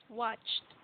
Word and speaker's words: watched: Watched. So only the pronunciation, the T sound. So same like past, watched.